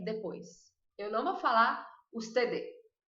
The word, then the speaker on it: usted: Usted. Ó, vou até virar a câmera para mim, para vocês verem minha linguinha. Ó, usted. Viu que ela ficou aqui parada?